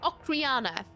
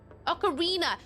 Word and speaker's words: ocarina: It's like when I tried to say um Oriana. No, Ocarriana. No, Ocarina. Ocarina. I keep saying Ocarina. Um Ocarina like almost Rihanna at the end.